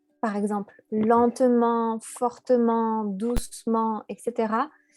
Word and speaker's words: fortement: T, par exemple, lentement, fortement, doucement, etc., il y a des personnes qui vont avoir envie de prononcer le -t à la fin qui est muet et donc doucement, fortement, etc.